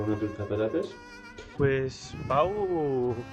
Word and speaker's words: Pau: Pues Pau, crec que es pronuncia Po, és una ciutat bastant gran.